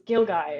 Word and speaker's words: gilgai: Carly Aulicky]: Close, it's Gilgai, It's one of those weird words that we borrowed from somewhere and I don't remember where.